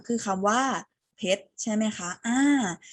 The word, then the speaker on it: เพชร: แล้ว ตอบ พร้อม กัน ค่ะ 1 2 ซั่ม เพชร ถูก ต้อง คำ นี้ คือ คำ ว่า เพชร